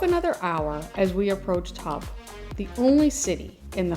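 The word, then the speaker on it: Höfn: It's actually pronounced hub.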